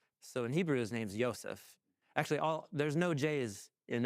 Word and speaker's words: Yosef: So it's Yosef, and the son of Yaakov. And so Yosef. So in the notes, I'm going to try and preserve that Hebrew pronunciation, but you can say whatever you want to say, but I'm going to stick to Yosef.